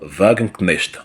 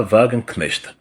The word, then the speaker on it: Wagenknecht: Le parti de Madame Sarah Wagenknecht, en abrégé SW. En allemand, ça se prononce SV. Parce que le W en allemand, c'est le V.